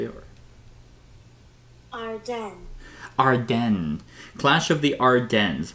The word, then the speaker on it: Ardennes: Today I'm doing a discussion over Clash of the Ardeans Ar- Ardens Ar- you know, actually I have I have never uh never looked up on uh how to pronounce that.